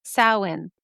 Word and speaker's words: Samhain: And in parentheses, she says, yes, Samhain.